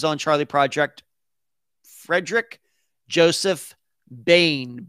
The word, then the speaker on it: Boehm: charlie project frederick joseph bain b-o-e-h-m why it's pronounced that way i don't know but that's the way i pronounce it um michelle says thank